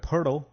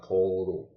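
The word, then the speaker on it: Poeltl: He needs to make a name for himself and let people know that his name is pronounced Pirtle and not Poldle.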